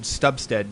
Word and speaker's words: Stubstad: Now, for people who don't know, Richard Stubstad, did I pronounce that right?